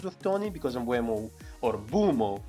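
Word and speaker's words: Mbeumo: If you have not wildcarded and you're just doing transfers and you want 3 Brentford, Mbuemo as an option, especially if something happens with Tony, because Mbuemo, or Bumo, how it's pronounced actually, is on penalties after Tony.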